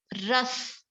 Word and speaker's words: rasa: Pronunciation is ras, R-A-S-A, the first dhatu, food converted into the ras.